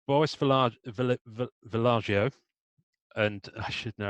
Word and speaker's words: Vallejo: with them on Facebook, Joe Jusko, right, Boris Villaggio, and I should know how to pronounce that properly, Julie Bell. I think it's Vallejo. It is because Vallejo.